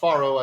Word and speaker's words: farro: pharaohs okay uh uh farro I guess would be the more appropriate pronunciation of the word gotcha far it's a